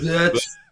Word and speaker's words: Wirtz: Florian Wirtz. Wirtz. It's a hard Wirtz.